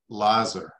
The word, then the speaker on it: Loser: Yes, I gave him credit, and I'm pronouncing it Lazer.